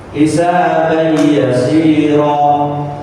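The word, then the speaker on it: حِسَابًا يَسِيرًا: Jadi cara bacanya bukan hisaban yasira. Ban ini masuk huruf ya. Tun ini langsung masuk huruf nun. Tanwin ini langsung masuk huruf mim. Tanwin juga langsung masuk huruf waw.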